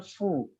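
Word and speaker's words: ふ: Di huruf H, di baris H ya, di baris A kolom U, itu bukan hu melainkan fu. Fu. Hahifu kalau dalam romajinya. Kita buatnya itu fu.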